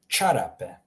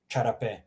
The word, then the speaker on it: čarape: Just imagine a CH in English. So čarape, čizme, that hard ch sound.